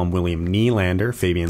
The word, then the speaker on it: Nylander: You don't call him William Nylander. You call him William Nylander.